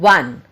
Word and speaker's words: one: The O is in one is pronounced as V in one. When we say one, what sound we are listening? Yes, we are listening W, V sound.